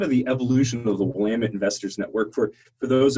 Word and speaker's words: Willamette: for the fact that I said Willamette and you say Willamette so clearly I completely mispronounced that Willamette is not the way I would have read it but okay so if